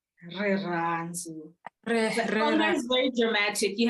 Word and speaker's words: Rirhandzu: Rirhandzu. The is very dramatic. You have to kind of drop the syllables in the vowel.